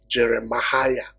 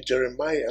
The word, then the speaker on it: Jeremiah: trying to pronounce but you can't go and call the name jerema right you can't it has to be Jeremiah so a is actually